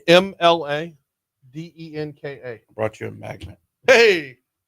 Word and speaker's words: Mladenka: Last name MLADENKA. Brought you a magnet. Hey. Normally I wait until break. Landon? Is that it? Ladenko. Yeah, so the L is silent.